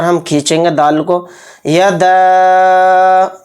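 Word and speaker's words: يدا: کو پہلے پڑھیں گے۔ یدا، دال کے ساتھ الف ہے، یعنی دال کے اوپر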